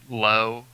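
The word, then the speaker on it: Lough: I like Markakis, and David Lowe. I don't know how you pronounce that. It's Lowe. He used to be a Royal. Lowe. Yeah, it's just Lowe.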